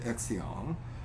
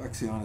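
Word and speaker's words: Xian: considered to have become Immortals and they're called exion are also venerated as well by both clergy and lay people Axion is spelled x-i-a-n they're the Immortals so despite these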